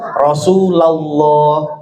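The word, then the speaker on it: رسول الله: Lafzul jalalah terbagi menjadi dua. Ada lafzul jalalah tafkhim tebal. Yang sebelum lafaz Allah fathah atau domah. Contoh Rasulullah. Rasulullah itu tebal.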